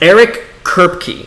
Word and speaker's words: Eric Kripke: Eric Kripke is how you pronounce his name.